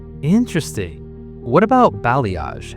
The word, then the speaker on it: balayage: What about balayage? How do you even say that word? It's pronounced blayage. It's a French word.